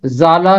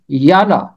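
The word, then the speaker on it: ژالہ: فارسی زبان کے ہیں، جیسے یالا، اس کا تلفظ زالا یا سالا نہیں ہے، اس کا تلفظ ہے یالا۔ مجدہ، مجگان، یولیدہ خاطر، یہ سارے فارسی زبان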